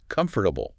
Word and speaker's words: comfortable: Much shorter. The stress is all on the first syllable, C-O-M-F, and the rest. It gets squashed. Those middle vowels often become just a weak, lazy sound, more like comfortable, or even faster, comfortable.